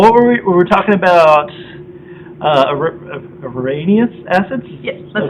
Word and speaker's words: Arrhenius: Arrhenius acids? Yes, that's how you pronounce it.